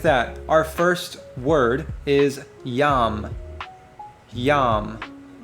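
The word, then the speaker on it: ים: So with that, our first word is yam. Yam. It's spelled with a yod and a mem.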